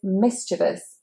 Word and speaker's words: mischievous: Number 18 is mischievous, mischievous. And the stress is, of course, on the mi, mischievous. Now that E is not said as long E, it is said as I.